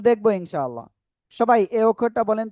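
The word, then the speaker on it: ث: সবাই এই অক্ষরটা বলেন তো কি অক্ষর, দেখি কেমন পারেন। সবাই বলতে হবে, সবাই। সা, সা, সা, সা, সা। নরম আওয়াজে এটা এক আলিফ টেনে উচ্চারণ করতে হবে।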